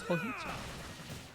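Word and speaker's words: hojicha: Joicha, and you have to pronounce Hoji Cha as Hoicha.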